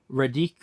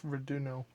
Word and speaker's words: Raduno: And then uh Radik, I hope I'm pronouncing this correctly, Redo Brick Oven in Little Rock, Arkansas, which was one of Jamie's favorite. Was that It's Runo.